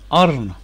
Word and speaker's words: ارن: نون رہ جاتا ہے، تو یہ ارن، URN، ارن، انگریزی تلفظ ہو گیا اس کا ارن۔ آگے